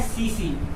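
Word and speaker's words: tsetse: इस मक्खी का नाम होता है सीसी। यानी इसे ये ध्यान रखना, इंग्लिश में ऐसे लिखा जाता है, टी साइलेंट रहता है।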